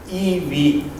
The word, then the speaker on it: EiV: knowledge let me introduce our platform which is pronounced e v eis pronounce e and v so we still